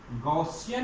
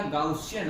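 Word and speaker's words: Gaussian: गॉसियन या गाउसियन, आप जो प्रोनाउंसिएट करो, गॉसियन सरफेस भी उसको बोलते हैं।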